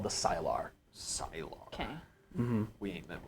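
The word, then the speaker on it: Sylar: these people called The silar Silo okay we ain't met one of them yet no how do you spell that s-y-l-a-r thank you like Skyler you know from one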